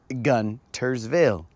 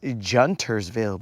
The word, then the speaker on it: Guntersville: The G is pronounced G. Gun. Guntersville. It is not Juntersville, bro.